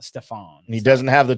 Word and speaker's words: Stephan: the tour at forty to one Stefan Yeager Steven Yeager no it's Stefan if you look at how he spells his